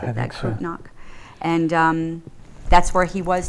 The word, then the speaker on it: Bad Kreuznach: And then he, I believe that's where he won the death march to, I don't pronounce it correctly, it's Bad Kreuznach. Is that how you pronounce it? Bad Kreuznach.